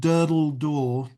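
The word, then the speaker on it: Durdle Door: It's shot at a place called Dur Door. D U R D L E D door I think is spelled D O R which is um on the southern coast of England.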